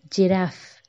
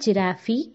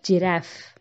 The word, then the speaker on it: giraffe: again I will repeat giraffe it is not giraffy it is giraffe finish Dominic's to Paco